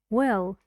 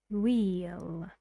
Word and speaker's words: we'll: gorilla film quick and because it's unstressed in this sentence we say well when sometimes it's trust in a sentence we say wheel but here it's unstressed good job everybody